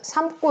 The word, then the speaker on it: 삼고: 아무튼 그러한 어간의 받침 미음이 뒤에 기역, 디귿, 시옷, 지읒과 만났을 때 뒤에 어미의 첫 소리를 된소리로 발음한다.